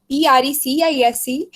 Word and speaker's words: precise: When we spell like PRECIS, it is called Pressy, and when we will spell PRECISE, then it is pronounced precise.